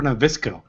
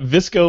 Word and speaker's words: VSCO: know that yeah I've never heard it pronounced so that's good and now I know it's PR visco I know don't hold